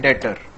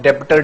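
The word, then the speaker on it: debtor: इसमें बच्चों B silent होता है, ठीक है, इसका प्रोनाउंसिएशन है डेटर। कई बच्चे मैं सुनता हूं डेप्टर डेप्टर बोलते हैं, इसमें बी साइलेंट होता है।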